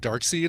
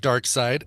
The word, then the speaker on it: Darkseid: of people are correcting me I used to pronounce it dark side and then somebody told me no brand it's pronounced Darkseid and I could have sworn it was even